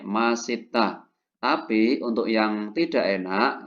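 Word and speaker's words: 맛있다: Ya sesuai rumusan ya S ketika di bawah dibaca t ketemu vokal naik Masita tapi untuk yang tidak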